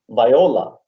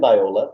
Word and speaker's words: viola: She has been teaching violin and viola for more than 20 years. Parallel to her musical activity. Excuse me, Keith, I think it's pronounced viola. Is that right, Katerina? Oh, Yes. that's viola, sorry.